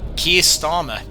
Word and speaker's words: Keir Starmer: It was Keir Starmer. And that's how you pronounce his name.